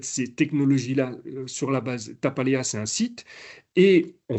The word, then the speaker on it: Tapaléa: Ça s'écrit comme ça. T-A-P-A-L-E-A. Tapaléa.